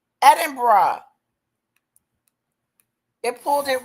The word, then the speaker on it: Edinburgh: Edinburgh. Edinburgh.